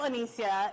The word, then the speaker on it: Onicia: please welcome Onicia. Wow. So many masked people in a room. I'm joking. I'm Onicia. It's like Alicia, but instead of an A-L, you spell it O-N-I-C-I-A.